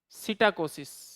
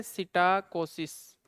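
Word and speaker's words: psittacosis: सिटाकोसिस T silent है सिटाकोसिस और यह भी मैंने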